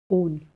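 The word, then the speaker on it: -one: name to on and the ending on is pronounced as own now rule 3 is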